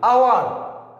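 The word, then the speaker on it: hour: তারপরে honourable, honourable আমরা বলছি না যে হনারেবল, অর্থাৎ এইচ একটি কনসোনেন্ট আর এইচটা উচ্চারিত হচ্ছে না, এইচটা সাইলেন্ট ভাবে রয়েছে। আওয়ার, অনারেবল, যদি কোনো কনসোনেন্ট থাকে, এই কনসোনেন্টটা যদি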